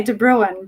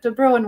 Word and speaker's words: De Bruyn: I'm probably not pronouncing it right because it's my husband's surname, but we say De Bruyn, but I believe it's said a little bit more Dutch-like in its original. But De Bruyn works.